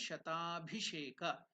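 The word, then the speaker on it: शताभिषेक: How to pronounce that Shata Abhisheka as the two words joined together? It becomes Sandhi. Shata Abhisheka. Together it becomes Shatabhisheka. Shata is elongated because the of that and this together becomes Savarna Dirgha Sandhi.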